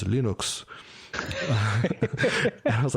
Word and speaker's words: Linux: is Linux Torvalds and the proper pronunciation of Linux is Linux."